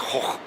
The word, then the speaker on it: Gogh: Because in Dutch, the G is not a G. And since it's OG, it doesn't follow the NG rules of a silent G. So it's hoch. Van Gogh.